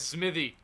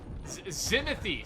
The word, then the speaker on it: Zimothy: And over to the P3, we are roaming as Smithy, or Zimothy, sorry, Zimothy, that's how it's pronounced.